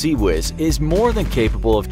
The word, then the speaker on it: CIWS: Designed to destroy incoming sub and supersonic missiles, a Phalanx CIWS (pronounced see-whiz) is more than capable